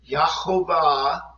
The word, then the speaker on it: Jehovah: Now, you may call him God, Jehovah, Jireh. Actually, in the ancient Paleo-Hebrew, he is, and I'm going to use the pronunciation, Yahovah, Yireh.